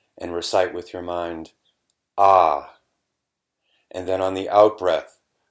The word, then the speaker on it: Ah: And with your mind, you'll recite the sound Ah, A-H, like ah.